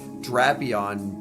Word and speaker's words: Drapion: yeah official pronunciations yeah it's it's tropas cuz it's like the tropics and drapion because it's like a vampire scorpion it is like Dracula yeah yeah drapp on